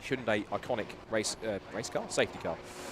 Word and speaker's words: Hyundai: So the field now neutralised, just stacked up behind the Hyundai should say it right, Hyundai iconic race car, safety car.